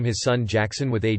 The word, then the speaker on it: Gackson: Well, it turns out he wasn't messing with me, and someone on his dad's side was actually named Gackson, pronounced Jackson.